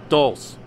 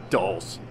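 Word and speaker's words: dulse: try this it's called Dulce sand so it's pronounced Dulce dolls okay dolls try seaweed all right we continue on in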